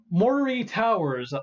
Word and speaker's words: Moray Towers: Moray Towers, Moray Towers, Moray Towers. That's how you pronounce it.